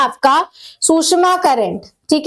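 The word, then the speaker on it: Tsushima: फिर आता है आपका सुषमा करंट, ठीक है। अब सुषमा में क्या है कि टी साइलेंट रहता है, ये आपका वार्म करंट है, ठीक है।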